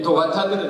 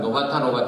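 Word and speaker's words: 土方: 모든 걸 다 하나님 방탕을 해버리고 아버지 집에 이 도가타들은 있다. 한국 사람 노가타 하는데 노가타가 아니고 도가타입니다. 잘못 발음을 해가지고 노가타 그러는데 도가타죠.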